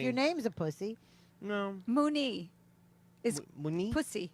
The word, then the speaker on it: Mooney: Mooney, yeah. Yeah. Wait, what are you talking about, Wuneen? Mooney. Like if you put Mooney. the accent on the second Oh, syllable. Mooney, it means pussy? It's dirty.